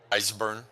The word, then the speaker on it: Eisburn: Eisburn, like your Eisburn. eyes are burning.